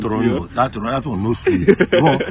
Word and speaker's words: Toronto: A lot of people like to say Toronto because they see the T at the end. But when you're in Toronto, you know that second T, that one is silent.